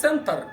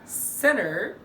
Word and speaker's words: center: مثال كمان زي ما اجي اقول center، it's not center it's center.